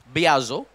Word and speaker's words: biazo: अनंगैसो, spelling लिखो ANAGKAZO। नया सब्जी का नाम नहीं है। अनंगैजो, बियाजो, नेक्स्ट बियाजो, BIAZO।